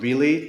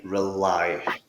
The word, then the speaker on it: rely: the next one here rely not really not R rely okay long ey sound at the end there I rely on AI